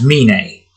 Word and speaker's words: Mine: Now it's Mine. Think of it like Fujiko Mine, the way her last name is pronounced.